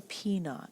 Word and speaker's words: P naught: our original principle the amount we're investing is a thousand dollars so that's our P naught remember that little zero it's pronounced not and it means original our rate